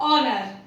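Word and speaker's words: honour: Just like ऑनर, इसमें एच ओ के पहले है तो ये साइलेंट हो जाएगा।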